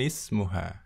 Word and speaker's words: ismuha: Di sini ismun ini hamzah wasal ya. Hamzah wasal. Jadi membacanya disambung ya tidak boleh diputus ya. Li zamilatun ismuha. Bukan seperti itu yang benar. Yang benar adalah li zamilatun ismuha. Ya, kita perhatikan lagi ya.